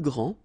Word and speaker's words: grand: here for the masculine, grand, so you don't pronounce the final D, will be exactly the same as the plural form for the masculine, grand. You don't pronounce the final D, you don't the D here, and you don't pronounce the final S.